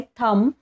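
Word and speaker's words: thumb: याच लेटरशी रिलेटेड आहे पहिला जो वर्ड आहे थंब टी एच यु एम बी स्पेलिंग तर टी एच यु एम बी आहे पण आपण याला प्रोनाऊन्स करताना थंब म्हणतो ब चा उच्चार इथे केला जात नाही आणि सेकंड वर्ड मध्ये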